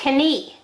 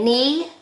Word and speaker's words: knee: Those are, the silent letter is K. You don't say knock. You don't say knife, you don't say knee. You say knee, knife, knock.